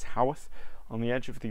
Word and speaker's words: Haworth: Yes, it's pronounced Haworth, not Haworth or any other. It's Haworth, on the edge of the Yorkshire Moors, and